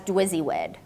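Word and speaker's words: DWYSYWD: and Barry the authors of the leadership challenge pronounce it as drizzywood so when we talk about drizzywood we also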